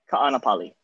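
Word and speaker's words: Kāʻanapali: don't totally butcher it ka'anapali it's tricky it's gotta pronounce every single vowel in there okay i can do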